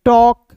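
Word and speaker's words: talk: टॉक। ए का उच्चारण औ के रूप में हो जाता है।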